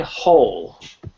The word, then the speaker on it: whole: And whole. Whole. Yeah, just forget the W is there, and it's almost as though the W is silent.